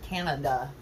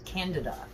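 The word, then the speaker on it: Candida: Thrush is Cándida. C-A-N-D-I-D-A. It's not Canada, it's Cándida.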